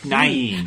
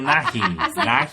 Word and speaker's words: Nighy: Nye. I thought you said Bill Nye. Bill Nighy. I don't know. Is that how you pronounce it? Nighy, yeah. Nighy?